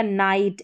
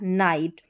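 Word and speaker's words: night: ऐसे ही आई जी एच बीच में दे रखा है इनमें। तो ये हो गया नाइट।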